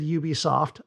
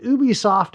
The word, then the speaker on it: Ubisoft: of staffers, their own people around the world, pronouncing the company's name. And some of them said Ubisoft, others said Ubisoft, and some of them even said Ubisoft.